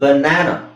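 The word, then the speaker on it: banana: [ಗಂಟಲು ಸರಿಮಾಡಿಕೊಳ್ಳುವಿಕೆ] ಬನಾನ ಸೋ ಇಲ್ಲಿ ನಾನು na ಎರಡನೇ ಸಿಲಬನ್ನ ಓದ್ತಾ ಇದೀನಿ ಹಾಗಾಗಿ ನಾನು ಅದನ್ನ ಆ ಅಂತ ಹೇಳಬೇಕು ಬನಾನ ನೆಕ್ಸ್ಟ್ ಇಲ್ಲಿಸಎಬಿಎ ಕಬಾನ ಅಥವಾ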